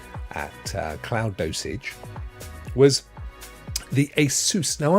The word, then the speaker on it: ASUS: Now, I've always pronounced it ASUS, but I'm going to lean towards the majority. And I've noticed that when watching anything about it on YouTube, they pronounce it ASUS. So I shall pronounce it ASUS.